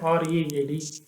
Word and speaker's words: read: Similarly, the word read, R-E-A-D, it rhymes with the word need, read.